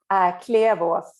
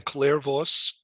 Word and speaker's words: Klevås: It's not that easy, as there's a Swedish letter in it. Klevås is the correct way. Okay, it's once again Klevås.